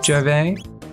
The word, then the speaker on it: Gervais: Is it Gervais? Gervais. I think the S is silent.